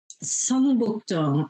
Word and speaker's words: Seongbukdong: Seongbukdong. I think it's spelled Seongbukdong.